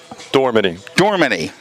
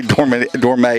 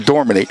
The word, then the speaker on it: Dormany: It is Dormany. I always say Dormay, and I'm like, I'm Dormany.